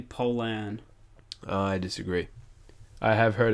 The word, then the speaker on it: Pollan: o ll a n pollen it's actually Poland I agree I have